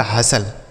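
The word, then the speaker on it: hustle: तो यहां पे जो टी लिखा है ना बच्चों यह साइलेंट रहेगा। इसे क्या पढ़ा जाएगा? हसल।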